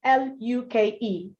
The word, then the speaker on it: Luke: I need you to locate L-U-K-E. Take a look at that word. L-U-K-E is pronounced Luke. So it has the same sound as your fool, which has this sound, ooh, in it.